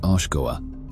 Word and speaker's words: Oshkoa: The first level, which is also the lower level, is Oshkoa, pronounced Oshkoa.